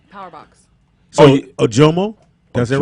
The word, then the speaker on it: Ojomoh: Ojomo? That's it, right? Yes. Ojomo. Yeah. See? Look. I Ojomo, can yeah. say I know. shit. I always say Ojamon, which I don't know why.